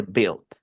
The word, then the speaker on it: build: No se dice build, se dice build.